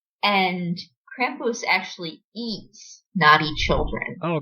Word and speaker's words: Krampus: the mom's side and she was saying is pronounced Krampus and Krampus actually eats naughty children Oh God eats them